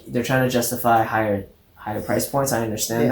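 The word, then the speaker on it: Haier: pronounce it that's cool yeah sounds like higher yeah okay higher but um it's like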